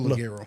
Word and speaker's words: Ligero: Yeah, Double Ligero. Ligero. Ligero. Okay, I didn't know that was a GOH. No. That's how you pronounce it.